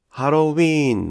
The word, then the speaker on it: ハロウィーン: このように見ると、ハロウィーンのウィーンは 3 拍 1 音節だという